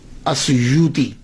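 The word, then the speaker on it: السيوطي: جو السیوط ہے نا، اس کے تلفظ میں 2 باتیں قابل غور ہیں۔ پہلی بات تو یہ ہے کہ اکثر الف چھوڑ جاتے ہیں، سیوطی کے علامہ جلال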